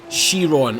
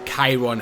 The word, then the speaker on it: Chiron: the new Bugatti Chiron or Chiron, however the hell you want to pronounce it. I don't really care how you pronounce it. Um, I pronounce it Chiron.